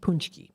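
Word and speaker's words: pączki: delicious it's spelled like pki almost but it's pronounced punchki so give it a try if you never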